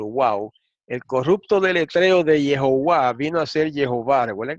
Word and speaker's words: Jehová: Sigue diciendo, la pronunciación indicada por Jehová o Jehová, pronunciando la J como una Y, ¿verdad?